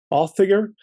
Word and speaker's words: Audiger: The correct pronunciation, by the way, is closer to Audiger. It's Old Norse, so it's something that I brought from the homeland.